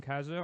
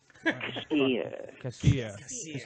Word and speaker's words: Kassir: You're going to see John Kassir, or I pronounced his name wrong again. Kassir.